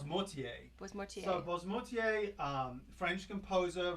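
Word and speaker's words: Boismortier: You should pronounce it. It's Bosmortier.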